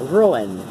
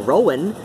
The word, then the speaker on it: Ruadhán: audible syllables Rowan yeah ruin that's that's how I say my name that's always always said my name I'll accept a Rowan if somebody says that but ruin that's that's how I say it ruined yeah yeah that's